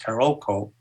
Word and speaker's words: Carolco: The company Carolco, sometimes pronounced Carolco, sold the rights to Miramax.